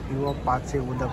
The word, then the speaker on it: पीवा पाचे उदक: पानी, तो ये जो पीवा पाचे उदक यानी पीने का ही पानी, इसका ये गोवन लैंग्वेज में इसका ये प्रोनाउंसिएशन है पीवा पाचे उदक।